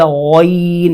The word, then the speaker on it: غین: غین کہہ دیتے ہیں۔ تو اس کا صحیح تلفظ ہے غین، یعنی پر بھی ہو، اس کے بعد غین و غی ہو، غی، کیونکہ یہ یائلین ہے، غین، غین، اگر اس